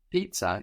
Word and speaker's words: Pizza: than no no no give this no rice Pizza in German is pronounced pizza pizza pizza pizza is there any